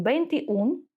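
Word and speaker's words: veintiún: далі бе ун аніш дивимось тут наголос на у тому що ми пам'ятаємо що якщо ене ми переходимо на один склад назад і буде наголос туди і якщо ми не поставимо тут наголос буде читатись неправильно то ми кажемо бенти ун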